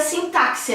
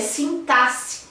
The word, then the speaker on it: sintaxe: Isso mesmo, a pronúncia não é sintaxe, é sintaxe.